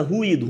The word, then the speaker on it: ruído: Olha o I de ruivo, cara. Olha como o I de ruivo é fraco, é breve, é quase pronunciado. Ruivo, ruivo, ruivo. Agora ruído, o I é forte, o I vibra suas cordas vocais.